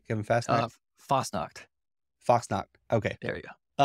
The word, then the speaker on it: Fassnacht: Today we have Kevin Fassnacht. Did I pronounce that right? Kevin Fassnacht? Fasnacht.